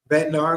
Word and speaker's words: Bednar: Bednar, okay, because I'm gonna chop his name up, not being disrespectful.